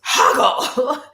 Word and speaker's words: Hoggle: And she kept saying his name, like he kept saying they kept saying his name wrong, and he was like, "Oh, it's Hoggle," and don't say I didn't warn ya.